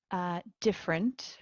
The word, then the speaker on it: different: Different, cross out the first E.